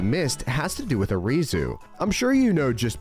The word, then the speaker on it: Arizu: of Team Galactic, but Arizu's name is actually another hint in itself. Arizu is spelt like the Japanese pronunciation of Ares.